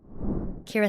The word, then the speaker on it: Ciara: Ciara, yeah. So it's Irish and it's spelled Ciara, but it's pronounced like Ciara Knightley.